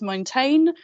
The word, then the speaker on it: Montaigne: Montaigne?